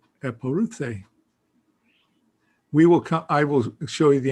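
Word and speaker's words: ἐπορεύθη: So she puts a syllable break there, a syllable there. This EU is a diphthong, so there's a syllable break there and here. So 1, 2, 3, 4 syllables. Eporuthe.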